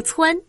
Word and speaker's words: 蹿: 蹿读蹿，指快速向上或向前跳跃，如身子向上一蹿。